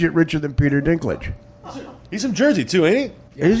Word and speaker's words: Dinklage: Peter stink llege listen I got the guys name wrong list Peter Dinklage's it's not English no your name is Peter stickler my name is Mario boss no no no Peter Dinklage gonna be a riches